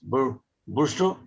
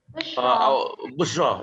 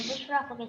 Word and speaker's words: Bushra: How to pronounce her names? Busro? Busro? Busra, yeah. Busra from Brunei. Please. Hi everyone, I'm Bushra.